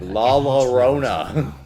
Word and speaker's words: La Llorona: He didn't say it right. La Llorona.